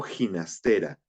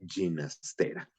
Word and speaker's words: Ginastera: en Nueva York y el anunciador dice Alberto Ginastera y el compositor mismo le dijo no, se pronuncia Ginastera. Así que bueno, yo siempre trato de decirlo así, aunque para efectos prácticos es ginastera para todos.